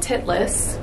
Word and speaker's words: Titlis: we're at this place we're going to mount titlis we did ask for pronunciation guidance and that is the correct pronunciation